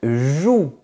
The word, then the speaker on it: joue: Un jus à ne pas confondre avec une joue qui est cette partie du visage. Ju jou.